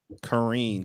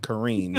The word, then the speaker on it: Careen: kareem yeah i know i know the word care is in my name and i care a lot but it's it's korean kareem kareem so karine don't worry